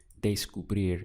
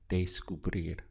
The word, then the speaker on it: descubrir: So what I find helps is if you look at the first two syllables here, we have de and sku. So if you just try to rehearse that sound in your mind a little bit, day-sku, sounds a little bit like day school, right?